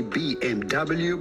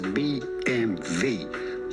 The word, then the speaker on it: BMW: actually means of course germans do not say bmw but they normally refer to the brand as bmv bmv which stands for via